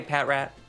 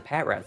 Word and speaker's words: Patrat: Do you pronounce it Pat Rat or Patrat? Because I've been hearing people call it Patrat. Now, I don't think that's necessarily incorrect, but I've always just called it Pat Rat. Maybe I'm just being too literal with the pronunciation.